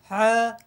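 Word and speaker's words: ح: মাধ্যমে শিখবো বলো মুজাহিদ বলো হা বাতাস বের হবে হা শক্ত হয়ে যায়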